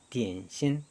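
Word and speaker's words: 点心: 점심, 한자의 점심의 북경어 중국어 발음입니다. 디엔신.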